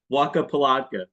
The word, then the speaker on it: Wacca Pilatka: hear your yeah yeah let's hear how you pronounce it Waka patka yeah you you nailed it awesome a lot